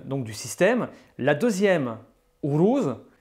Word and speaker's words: Uruz: La deuxième, Uruz, se prononce OU, non pas U.